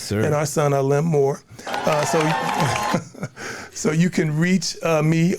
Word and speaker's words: Moor: AALIM, A, Moor, MOOR, no E.